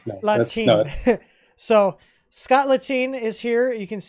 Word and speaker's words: Lahteine: And tonight we are graced with the wonderful presence of Scott Lahteine. And I said it wrong, didn't I? Lahteine. Close enough. Lahteine. I always screwed up. Let's shine. No, Lahteine.